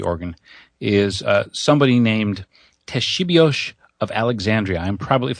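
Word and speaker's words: Ktesibios: inventor of the organ is uh somebody named Teshibio of Alexandria. I'm probably if there are Greek speakers in the audience, it's spelled KT E S I B I O S.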